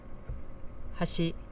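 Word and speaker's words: 端: on the second Mora has she meaning edge with no pitch accent right so to me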